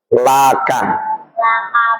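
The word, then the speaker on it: لَكَ: Kalau disandarkan pada isim domir seperti kaf menjadi laka, lahu, laki. Awak bacanya itu la. Kalau isim dohir li.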